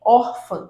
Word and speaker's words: Órfã: né nesse caso aí me digam aí Órfã Qual é a sílaba tônica identificaram pronto então a sílaba tônica é a mais forte nesse caso ela é um paroxítona e a gente vai